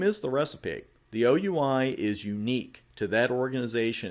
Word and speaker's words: OUI: The first part of this address is the Organizationally Unique Identifier, or OUI. Don't pronounce it we.